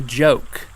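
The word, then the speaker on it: Goke: And ladies and gentlemen, you are creating a joke. Uh, G O K E, but it's pronounced with a J. Like GIF.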